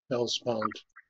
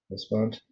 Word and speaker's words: Hellespont: Hellespont. Hellespont.